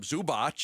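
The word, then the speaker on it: Zubac: think they're going to want to give up Zubot. So, they're going to want to give up guys like Dunn and Powell and Bdanovic if they're not giving up Zubot.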